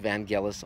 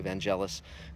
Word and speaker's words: Vangelis: The score, of course, is spectacular, phenomenal, unique by Vangelis, from what I hear, it's pronounced Vangelis, although most people say Vangelis, including myself. But again, it just holds up.